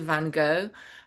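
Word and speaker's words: Van Gogh: And then this is the immersive Van Go. Um the American pronunciation. I am Dutch.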